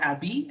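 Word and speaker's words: ABBYY: some people tell me whether it's abdy why how do you pronounce it so probably they have not heard of us before so it's called abby i would like to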